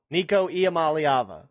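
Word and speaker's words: Iamaleava: It's Nikico Amalyava. People can't say his last name apparently. Amalyava. Nikicoava. That's the best pronunciation.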